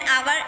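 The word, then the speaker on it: hour: Word ऐसे होते हैं जिसमें एच साइलेंट होता है तो उसमें भी हम एन का यूज़ करते हैं, जैसे एन आवर, an honest, and honourable man. यहाँ पे एच जो है साइलेंट है।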